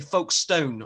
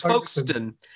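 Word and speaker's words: Folkestone: gone to folk folkston i wasn't saying folk stone i'm not sure how you pronounce it it's foxton and our special guest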